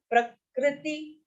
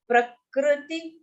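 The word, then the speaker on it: प्रकृति: So this ka here is ka and ru, the ru that you have in Hriday, ha and ru. So that's a swar. So it should neither be pronounced as ra nor pronounced as ru. I mean, you don't have to pout your mouth. You have to say a slight u sound.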